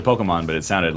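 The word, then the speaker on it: Pokémon: It's not Pokemon, it's Pokemon. Forgot about that.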